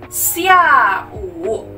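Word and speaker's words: 下午: Kalau sore hari, xia wu, xia wu. Jadi xia kita bacanya sia, xia wu artinya sore hari.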